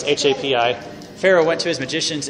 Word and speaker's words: Hapi: The god was named Happy or Hoppy. I don't really know how to say it. Pharaoh went to his magicians and it's Hapi.